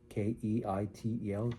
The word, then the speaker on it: Keitel: Last name is uh kei tel keitel as same as the actor.